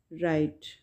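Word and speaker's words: right: राइट में जी जो है वो साइलेंट है, ठीक है। जी साइलेंट है, इसको हम प्रोनाउंस नहीं करेंगे, ऐसे प्रोनाउंस करेंगे राइट, लिखेंगे लेकिन प्रोनाउंस नहीं करेंगे, राइट, ठीक है।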